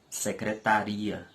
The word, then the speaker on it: secretaria: outras com maior intensidade E quando pronuncio a palavra secretaria e observe que na palavra secretarias a sílaba tá não é forte e sim a sílaba